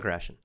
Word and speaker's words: Krashen: reading stephen krashen Stephan Stephan chrétien Steve we pronounce stephen stephen krashen it's but it's it's his name is spelled